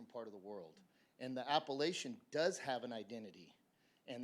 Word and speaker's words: Appalachian: learn something every day I'll tell you it's pronounced Appalachian my question is it's about process for this